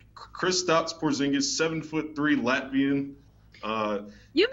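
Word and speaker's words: Kristaps Porziņģis: gonna do my best I believe it's crew stops porzingis he's kristaps porzingis seven foot three latvian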